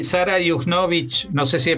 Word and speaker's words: Juchnowicz: Y Sara Yujnovich, no sé si he pronunciado bien tu apellido.